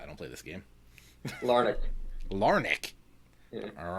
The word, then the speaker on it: Larnach: game again of me not knowing how to pronounce these guys' names. That would be Larnick. Yep. Is it Larnach or Larnach? Neither of those. I don't see. This is why I don't play this game. Larnick.